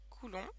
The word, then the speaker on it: coulomb: bien c'est le cool alors coulon ça s'écrit comme ça coulon et ça vient du